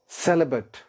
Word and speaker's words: celibate: Third word है हमारे पास सेलिबेट। और से सुनिए, सेलिबेट, और स्पेलिंग जिसके क्या है?